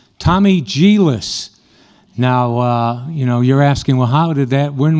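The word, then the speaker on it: Djilas: Tommy Gillis, and that's spelled D-J-I-L-A-S, if you want to look it up.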